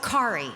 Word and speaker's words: Kari: Oh, Kari, like Ferrari.